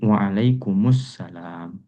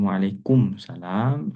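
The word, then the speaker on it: وعليكم السلام: Nah, berarti mimnya diberikan harakat. Jadi, waalaikumussalam. Waalaikumussalam. Tapi kalau ada orang yang mengatakan waalaikumsalam ya kemudian juga dia em apa ya?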